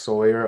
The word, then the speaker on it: SOYR: Um my artist name is S O Y R, pronounced Sawyer also.